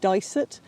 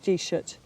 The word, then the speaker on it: Disert: name appears in a lot of different places in Ireland in a lot of parts of the country it's called dice it but here in Donegal it's more like g-shut and it's just a pronunciation difference where we get that